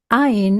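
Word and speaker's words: ע: Ain is silent when it has no vowel.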